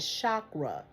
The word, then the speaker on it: chakra: But the whole point is say it right, chakra. Shock. Raw. Raw.